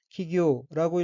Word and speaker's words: 企業: 다음 어위는 한자가 한국어로 기업이고 각기 귀할기 어법자이고 일본어로는 키기우라고 읽으며 키기우는 기업이란 뜻입니다.